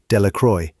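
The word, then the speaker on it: Delacroix: Bobby and Harry Jones and Dicky Deacro, the villagers pronounced this name Delroy, eventually made a great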